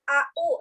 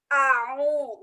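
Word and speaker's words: أعوذ: dalam-dalam pelafalannya dalam-dalam mengucapkannya Alif itu terletak di pangkal tenggorokan berbeda dengan air kalau air itu berada terletak ditengah tenggorokan jadi cara membacanya Bukan aau tapi awul ia kemudian disini angin itu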